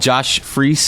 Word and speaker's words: Josh Freese: And Josh Freese, is that how you pronounce it?